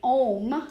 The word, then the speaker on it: Om: humming and the vocalization, when we say Om, which is spelled O-M or A-U-M, essentially what we're doing is the A is the lower part of the body. We feel the vibration there. The U rises to the mid and to the lower